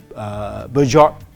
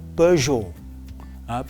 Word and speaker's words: Peugeot: A lot of people say Peugeot. No, it is called Peugeot.